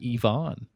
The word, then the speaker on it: Ivan: Uh he said that's the Russian pronunciation.